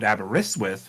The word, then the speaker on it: Aberystwyth: it's it's like uh another one closer to home is aberystwyth in Wales that is when you look at that like and you know it's called abaris with when you look at